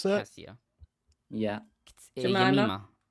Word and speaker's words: Jemima: Jemima? Yep, Yemima. Jemima. Yeah, J is a yeah sound, and I is.